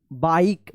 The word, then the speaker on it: bike: देखिए यहां पे लास्ट में ई है, ई से पहले वोवेल आई आया है, इसमें भी आई आया है, तो इस ई का कोई उच्चारण नहीं हुआ है, लेकिन इस आई का आई उच्चारण हुआ है।